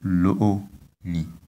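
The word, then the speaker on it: loni: We, on the two vowels O, we have high tones, so the pronunciation is Lo-ni.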